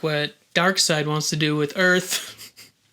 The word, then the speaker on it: Darkseid: who's a servant of darkseid darkseid which is spelled s-e-i-d yeah it's not the dark